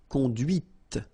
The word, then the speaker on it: conduite: And that's when you hear the difference between conduit, because remember, final T is not pronounced, conduit, here, and then the feminine, conduite. Okay, so here you can listen to this t, t, okay, conduite.